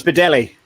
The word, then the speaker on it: Bedelli: Bradley, is that how you say his name? Bradley? It's Bedelli. Bedelli. Bedelli. Yeah, it's Michael Bedelli. He's of Italian descent.